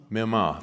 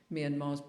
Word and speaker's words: Myanmar: And you were speaking specifically about, I'm going to get the name wrong, Myanmar, Yeah.